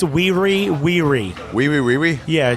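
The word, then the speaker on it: Wiri: It's Weary. Wee wee wee wee? Yeah, W-I-R-I, W-I-R-I. Weary. Weary. I think so. Like very weary, but Yeah, but pronounced two that of way?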